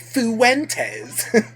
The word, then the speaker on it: Fuentes: I like how he really pronounces the U in Fuentes, right? Fuentes.